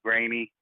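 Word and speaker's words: Graney: name right or not, I think you said it's Grainy. Yes, it is. Mike, although I'm not sure about that premier religious writer bit there. You might get an argument about that even from me. But I got to get used to saying your name right, Mike Grainy. Tell us what you can pronounce it very easily. Just say Dale Carnegie 3 times there.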